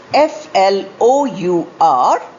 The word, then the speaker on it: flour: This is the next pair of homophones, spelt F-L-O-U-R and F-L-O-W-E-R, pronounced as flour.